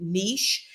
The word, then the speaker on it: niche: And you do pronounce it niche. It rhymes with sheish, okay?